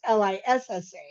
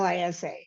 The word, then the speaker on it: Lisa: as you're reading this, is pronounced Lissa instead of Lisa, because yeah, that, it kind of bugs me.